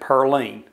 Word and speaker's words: Pauline: by the name of Pauline Foster. Now, back in those days, they pronounced it Pearline.